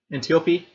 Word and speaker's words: Antiope: Antiope is the pronunciation.